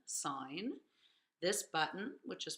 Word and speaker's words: sine: There's this button, which is pronounced sine, not sin, sine.